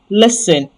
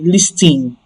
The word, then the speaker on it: listen: Remember what I taught you about the letter I that sounds a. This is another example of it. So it sounds e here not not e. So it is le listen to me not listen. Some even worsen it and say listen like they install the t that is supposed to be silent they install it into that word.